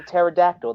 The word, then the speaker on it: pterodactyl: Kong the new Empire it's like a pterodactyl the p is silent I the the English